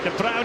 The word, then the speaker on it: De Bruyne: If you're wondering about the pronunciation of Kevin De Bruyne, you've probably heard it pronounced a few different ways. That is the preferred Flemish pronunciation, and he is from the Flemish part of Belgium.